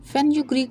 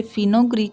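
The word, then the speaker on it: fenugreek: फेनुग्रीक seeds, मेथी दाना, फेनुग्रीक seeds, मेथी दाना। यहाँ पे मैं आपको फिर से बता दूं, ये फिनोग्रीक सीड्स नहीं है, फेनुग्रीक सीड्स है।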